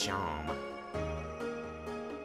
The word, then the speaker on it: Seam: name's Seam, pronounced Sham.